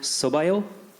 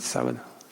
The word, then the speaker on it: sábado: And I just wanted to return the favor by saying, Boa sorte no sobaio. Did I say it correctly? Boa sorte sábado.